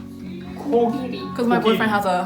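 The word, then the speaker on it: 코끼리: It's not like G and K. It feels like it's always somewhere in the middle.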